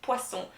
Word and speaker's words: poisson: single single s so the double s is like a snake sound and the one s it's a b sound z or sleeping sound right jade zu so